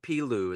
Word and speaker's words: Piloo: But the latest album, and hopefully I'm pronouncing this right, The Hidden World of Piloo. Is that how you say it? Correct.